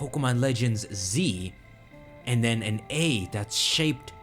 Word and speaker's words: Z-A: says Pokemon Legends ZA, but it says the pronunciation right here. It says ZA. So ZA. So we have clarification right there. It's not Z-A, Z2A, which was a big speculation, right?